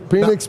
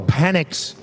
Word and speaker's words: Penix: I thought we were pronouncing it wrong. All right. Phoenix, Penix. I mean. No, I think it was official. I think it was officially Penix.